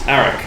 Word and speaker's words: Arach: This is Arik. Hello, Arik. How do you spell that? A-R-A-C-H. Like an arachnid.